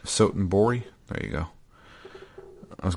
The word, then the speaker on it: Sotenbori: talk to is in gosh, how do you pronounce it? Majima's town. Sotenbori. Sotenbori. There you go. I was going to say Sadabori for some reason.